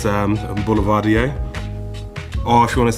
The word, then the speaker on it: Boulevardier: We have one great question, which is how do you pronounce Boulevardier? It's Boulevardier. Or if you want to say it in French, Boulevardier.